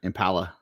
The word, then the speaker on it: impala: Impala. Cool. I'll live with it. He Darla's saying impala. Like like the name Paula, like a girl with an M in front of it.